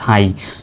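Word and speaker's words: high: কিন্তু হাই বানানে জি এইচ এর উচ্চারণই silent. H আই জি এইচ হাই।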